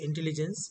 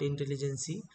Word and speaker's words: intelligence: Uh pronunciation you generally say intelligence not intelligency.